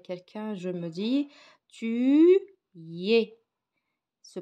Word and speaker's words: es: je parle avec quelqu'un je me dis tu es se prononce et et elle l'écrit e s il